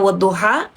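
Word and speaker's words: والضحى: Ingat ya, tadi saya sudah kasih tahu bacanya wadduha.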